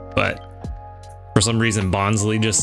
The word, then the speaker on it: Bonsly: I've always pronounced it Bonsly. I've heard a lot of people recently saying Bonsly. Kind of makes sense with the whole sly nature of it, with it being a fake tree, but for some reason Bonsly just sounds right.